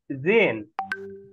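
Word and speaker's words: sehen: আচ্ছা, ছবির দিকে জেহেন, জেহেন বলবো না আমরা, H silent. জেন, জেন জি D photos আন, দেখুন ছবিগুলো।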